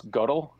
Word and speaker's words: Gödel: you know constant so it's gödel we're not the godel in oh and you pronounce